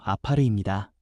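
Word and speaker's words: עפר: 먼저 여기서 흙이라는 말은 히브리어 발음으로 아파르입니다.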